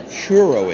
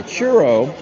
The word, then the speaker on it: churro: Now, anybody who might be of Spanish descent might know what a churro is. Churro. Churro. A churro. C H U R R O is a churro. I can't roll my Rs.